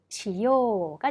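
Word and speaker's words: しよう: 자, 하다, 수루라는 동사를 하자 혹은 하겠다, 해야지로 바꾸기 위해서는 시요가 되는 거죠. 여러분 여기서 주의하실 점, 요 의식적으로 발음을 좀 길게 끌어주셔야 한다는 겁니다.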